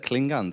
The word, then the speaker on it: Klingande: It's tricky, but there is no right way to say it, but I prefer Klingande because it's a Swedish word, and the Swedish word is Klingande, but I prefer to say Klingande.